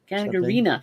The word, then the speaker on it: Gagarina: Angry Otter wants to know, TC and Don, do you listen to Polina help pronounce that for me. Gagarina? Gagarina.